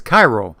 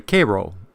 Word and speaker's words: Cairo: USS Koo I would pronounce the name as Cairo but the correct pronunciation is apparently Koo the USS Koo was one of seven Ironclad